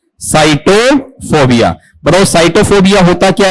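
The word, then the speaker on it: sitophobia: एस आई टी ओ पी एच ओ बी आई ए इसका उच्चारण बताओ क्या है नहीं साइटोफोबिया सिटोफोबिया है या साइटोफोबिया साइटोफोबिया बताओ साइटोफोबिया होता क्या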